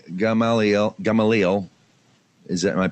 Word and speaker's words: Gamaliel: all right go ahead rabbi nina b gamaliel gamaliel is that am i pronouncing it correctly yeah okay rabbi hanina b